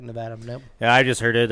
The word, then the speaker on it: Nevada: slip up on that is it nevada it isn't it's because i've heard it all across wrestling okay yeah there's nevada yeah but it's spell it's obviously spelled like nevada so a lot of people will be like nevada yeah i just heard